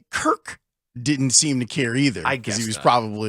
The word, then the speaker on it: Kirk: own point guard right he always called Kirk Heinrich Kurt and he would hit that t hard yeah because a party